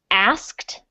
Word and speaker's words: asked: Okay, so asked is a really hard word for some people to pronounce because it has 3 sounds at the end of the word that kind of blend into each other. So it's the sound is the beginning, ask.